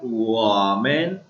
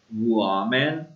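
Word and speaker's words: 我们: First है Niemann, उसके बाद है वामैन। इसको वाह नहीं पढ़ना, वाली वाह नहीं, ये हुआ है हुआ, वुआमैन।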